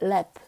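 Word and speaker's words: laugh: 그 다음에 lap, 웃다 할 때 lap는요, GH가 무슨 소리를 내는 거예요? 프 소리를 냅니다.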